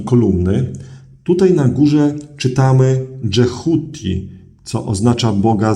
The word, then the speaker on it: Djehuti: Tutaj na górze czytamy Dżehuti, co oznacza Boga z głową ibisa.